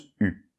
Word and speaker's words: eu: j'ai pu alors là c'est vrai que ça s'écrit eu1 mais ça se prononce pu alors on peut remarquer